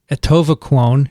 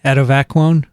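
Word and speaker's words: atovaquone: that are resistant to etova clone is that how you say it adivaquone no no no no not the latter one you're doing well can't transmit from mouse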